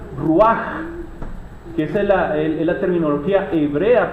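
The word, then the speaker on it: רוּחַ: En hebreo se dice, ahí tiene la H, pero en realidad se pronuncia ruaj, que es la terminología hebrea para definir al Espíritu.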